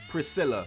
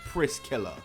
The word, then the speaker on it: Priscilla: Priscilla, not Priskiller.